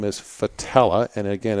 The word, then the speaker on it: Fattaleh: and my last name is fatale ax and again it's spelled F isn't Frank F a t a